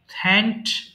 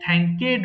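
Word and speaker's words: thanked: এরপর আসি, থ্যাঙ্ক ধন্যবাদ দেওয়া, থ্যাঙ্ক, থ্যাঙ্কড, থ্যাঙ্কড। এটাও ভুল করে অনেকে থ্যাঙ্কেড বলে ফেলে, এটা হবে থ্যাঙ্কড।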